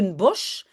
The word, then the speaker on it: Bosch: pas la mais de Bosch. Bosch, on dit aussi bos et en fait le sh à la fin on prononce comme s hein in bos de